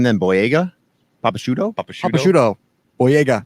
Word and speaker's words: Boyega: Boyega. No. Doesn't rhyme with bodega.